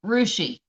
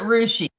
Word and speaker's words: Russia: Okay, like Russia, it's Rushi. They pronounce it Rushi.